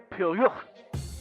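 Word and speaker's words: Pierrot: It's pronounced Pyro.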